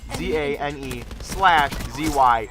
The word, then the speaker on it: Zanezy: So literally Zane, Z-A-N-E, /Z-Y, Zanezy. Easy as pie, right?